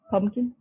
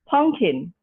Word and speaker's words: pumpkin: is the correct spelling pumpkin or this is their pivot pumpkin anyway a lot of children uh not a lot of adults uh i saw in america they would pronounce it as punkin so you have